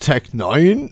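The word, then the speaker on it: Tech N9ne: pronounced Tech Nine, is Heck an no.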